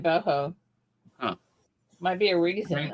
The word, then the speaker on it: Bochow: Oh, they pronounce it boho.